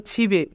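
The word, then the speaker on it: 집에: ছিবে ওদা, ছিবে ওদা মানে বাড়িতে আসা। এখানে বাচ্চিমের পরে ইয়ং থাকার কারণে ইয়ংয়ের স্থানে বাচ্চিমটি যাবে, তাই উচ্চারণ হবে ছিবে।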